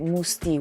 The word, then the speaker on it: Mousse T: Why Musti? Where it comes your artist name? Yeah, it's very simple. Basically, my name is Mustafa, and the short for Mustafa is Musti, but you spell it differently.